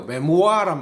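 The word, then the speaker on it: memoir: 그 다음에 이번에는 프랑스 발음인데요. 메모아란 말이 있어. 메모아는 프랑스 발음이라서 그랬는데 머물러란 말이겠죠.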